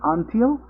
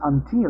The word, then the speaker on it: until: in the case of the stress of the word until, because I pronounced it before like until, but then somebody told me, yeah, but that is not until, but it's until, and I was like, really?